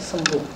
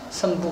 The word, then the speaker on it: 잠부: 잠부 . 원래 이름 은 " 잠부 " 입니다 . 원래 는 잠부 였는데 , 한자 를 쓰고 우리 방식 대로 발음 하다 보니 " 선부 " 가 되었습니다 .